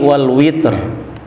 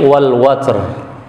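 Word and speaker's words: وَالْوَتْرِ: wasyaf'i Wal watr dalam bacaan riwayat lain dibacanya bukan wasyafi Wat tapi Wal witr tapi dari riwayat hafaz anasim yaitu yang kita baca sehari-hari itu riwayat hafz an asim itu wasyaf'i Wal watr dibacanya fathah demi yang genap dan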